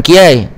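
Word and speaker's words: Kiyai: Ya, ha, bukan kiai. Ejaan dia K I Y A I, ya, tapi bunyinya bukan kiai, bunyinya kiai.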